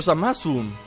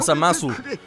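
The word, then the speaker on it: Zamasu: samasu samas samasu samas Es que así lo pronuncian Los japoneses no samasu la u la la u Muy apenas si la si la dicen suena más como samas que como samasu así que a lo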